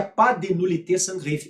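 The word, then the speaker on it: pas de nullité sans grief: de nullité Sans grief Olha que o princípio do PA tem o s né mas não se pronuncia pa de nullité Sans grief é o princípio do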